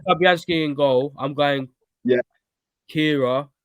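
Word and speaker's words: Kehrer: But I call him Keller. I think I pronounce it Kira. Keller is the man. You Play, more of a yeah, I'm just like, yeah, no, it's like Kira, mate. Tilo Kira.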